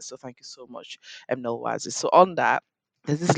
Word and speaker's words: Nolwazi: Nolwazi. Nolwazi, Yes. Nolwazi. Yeah. I'll tell you a little story about me pronouncing South African names in a second.